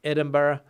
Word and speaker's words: Edinburgh: Scottish City Edinburgh uh everybody here in Spain that I've ever taught English to pronounces that word wrong because they don't understand that the end of that word Edinburgh the b-r-u-g-h I think it is is pronounced like that and not Berg which would be the logical way to pronounce it I suppose like the